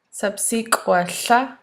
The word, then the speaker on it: Sapsik'ʷałá: how to pronounce subsequent subsequent is the word for teacher in sahapton it's